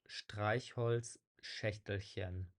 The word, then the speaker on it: Streichholzschächtelchen: Yeah, it's just a fairly difficult to pronounce letter combination, but it's pronounced Streichholzschächtelchen.